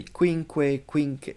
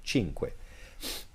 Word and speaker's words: cinque: you'd be like, whoa, there's a Q and then there's a C, but it's not pronounced as an S. I've heard students say quinque, cinque. That's how you say cinque.